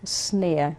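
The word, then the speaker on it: Szneer: Leopold Snare. We call him Poldi. Snare, right. And spell that for us.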